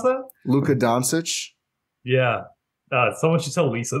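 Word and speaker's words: Dončić: Sorry, how'd you pronounce that? Luka Doncic. Yeah. Someone should tell Lisa that. Luka Doncic. No, she's like Dontich or something.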